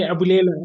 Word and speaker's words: Abulela: Yeah, it just it's being pronounced the way it looks. So in our language, it's like I, E, O. So yeah, it's like Spanish.